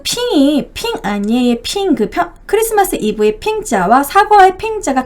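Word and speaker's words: 平安夜: 그 중국어 발음으로 크리스마스 이브가요. 핑안예라고 해요. 핑안예.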